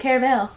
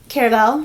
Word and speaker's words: Caraval: well actually did she how did she pronounce it I think she it Caravel Caravel did she I'm trying to remember remember I say it both ways every time I say it